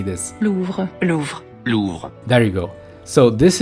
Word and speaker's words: Louvre: Louvre.